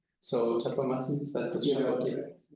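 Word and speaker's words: Chabauty: The Chaboti topology, I meant to ask you how this is pronounced, but I forgot. So Tatomasi, is that the Chaboti? Chaboti topology, all right.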